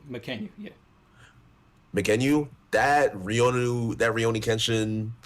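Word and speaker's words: Mackenyu: I don't know how to pronounce his name. McKenyu, yeah.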